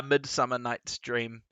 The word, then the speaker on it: Midsummer Night's Dream: Nah, Midsummer Night's Dream. I said Midsummer's... I was like, yeah, that's Midsummer's Night Dream, which is the classic slip-up that Shakespeare buffs go crazy over.